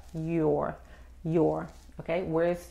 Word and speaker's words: York: viene de aquí y enfoque enfóquense en la r york para pronunciar la erre lo único que tiene que hacer es hacer un círculo con los labios la lengua no toca nada ok y el esfuerzo viene de la boca york john key west y